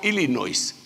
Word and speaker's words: Illinois: Chicago, Illinois, no se pronuncia la S, le dicen a uno, hermano.